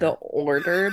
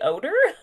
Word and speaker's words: Ordor: It's The Order, but it's spelled ORDOR. The Order. Order. Okay, yeah. That's better than what I was thinking. So some people are like, the odor? No, the Order.